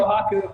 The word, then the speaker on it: Kohaku: How do you pronounce her name? Kohaku.